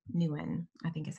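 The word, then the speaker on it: Nouwen: keep choosing it every day henry j m newen i think is how you pronounce his last name i love that but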